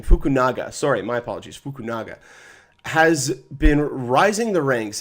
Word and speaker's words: Fukunaga: will have to find a new director krie fukuno um I believe that's how you pronounce his name fukunaga sorry my apologies fukunaga has been rising the ranks as somebody to